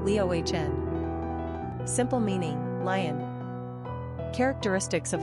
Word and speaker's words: Leona: Number of syllables, 3. Ranking popularity, 734. Pronunciation, Leohn.